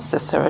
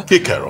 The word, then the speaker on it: Cicero: Kikero in this country, not Cicero. Don't you hate when people say Cicero? Kikero. Yes, there's no soft C in Latin. It's Kikero. Anyway, who also met a similar Kikero end?